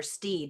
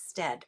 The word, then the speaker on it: Stead: And I keep pronouncing it because I want to call her Steed, and it's Stead.